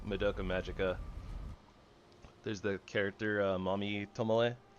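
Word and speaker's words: Mami: That's how it's pronounced, but that's not how it's spelled. Spelled M A M I.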